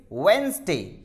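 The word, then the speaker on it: Wednesday: वेडनेसडे, देखिए डी आया एन के साथ, मैंने रूल लिख रखा है if comes with N, एन के साथ में आता है तो डी साइलेंट होता है। तो इट इज नॉट वेडनेसडे, इट इज वेडनेसडे।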